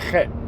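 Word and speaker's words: חית: Well, in English, they use an H for the chet sound. But H don't sound like chet. H is ha.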